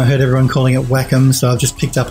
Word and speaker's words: Wacom: and says funny Aziz welcome we say Wacom yeah some people say welcome some people say Wacom I used to say Wacom and I heard everyone calling it Wacom so I've just picked